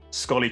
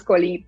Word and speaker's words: Sxollie: Laura how are you doing and did I pronounce scolly correctly yes thank you so much for having me you pronounce scolly perfectly you won't believe how many times people